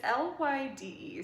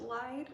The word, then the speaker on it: Lyde: It's Lyde, so I think it's called, or it's pronounced Lyde.